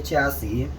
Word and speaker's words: chassis: Yeah, I live in the US, so I say chassis. The pronunciation of that word varies based on the country you live in. Here in the US, it's pronounced chassis.